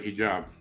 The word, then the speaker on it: hijab: I don't know what that's called, but when they cover their hair, that's called a hijab. I think I pronounced it right. Oh, yeah, you got it right. Hijab.